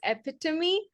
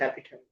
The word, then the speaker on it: epitome: I think I did know that it was epitome. But sometimes I say epitom as well. I think people pronounce it both ways.